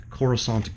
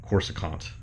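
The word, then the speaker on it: Coruscant: are cool the cor corusant guard I always used to say corant cuz when you know before you actually heard it pronounced by anybody when you read it in a book or something it was like yeah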